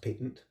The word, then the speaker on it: patent: so we need things to keep the airways patent patent is just the um fancy word for open um and it looks like patent but it says pronounced patent so we always you know you talk about